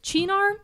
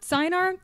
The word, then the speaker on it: Cynar: a half ounce of cheenar cynar i've heard it pronounced different ways um it's